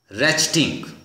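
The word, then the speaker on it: ratchet: A sharp रेचटिंग रैचेट, T silent है, रैचेट इसकी pronunciation है, रेचटिंग, रेचटिंग का मतलब लिखें एक मशीन होती है।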